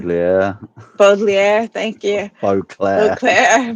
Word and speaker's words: Baudelaire: He's got that same passion like how Leslie and I were talking, unable to believe that uh Beauclair, I think it was, say the name wrong. Baudelaire, Baudelaire, thank you.